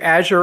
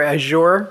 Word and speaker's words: Azure: thing is either and you can pronounce either Azure or Azure both correct both correct good good it's good